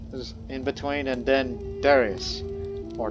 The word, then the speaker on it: Darius: And then there was some guy, then Cambyses is in between, and then Darius. Or Darius, depending on your pronunciation.